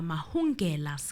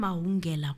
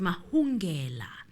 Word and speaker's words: Mahungela: We are here to deliberate on Bafana Mahungela's case. I've been calling him Mahungela quite a lot, but it seems like the There's an pronunciation H. is, yes, it's Mahungela.